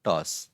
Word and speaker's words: टॉस: तो इस टॉस में यहाँ पे एक काना लगा हुआ है, जो कि ये है, ये वाला, और एक अर्धचंद्र लगा हुआ है उसके सर के ऊपर। ये कहाँ से आया हुआ है? ये है अ की निशानी। इसका मतलब इस ट में अ जुड़ा हुआ है।